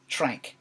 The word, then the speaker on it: Trank: shrink gives me a job Josh jo SH tranq tra NK like tank but with an arm alright may have respected